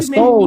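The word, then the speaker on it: Sowell: I thought you Soul though, like someone's got Soul. That's Thomas Soul. Yeah, it's Thomas Soul.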